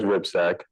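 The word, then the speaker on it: Hripcsak: Biomedical Informatics at Columbia, a guy named George Wipsek. That's how you pronounce that funny Eastern European last name.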